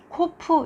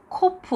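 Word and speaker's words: קוף: 있습니다 어 그리고 이것은 코프 이렇게 해서 어 크 발음입니다 우리가 필요 좀 비싸게 생겼잖아요 그래서 풉 얼음 일 것이라고 이렇게 생각할 수가 있는데 그게 아니라 코프 후라서 큼 아름 이라고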